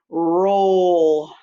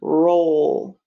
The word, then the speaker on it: role: r o l e now i'm gonna say the individual sounds where the e is silent slide them together roll number 12.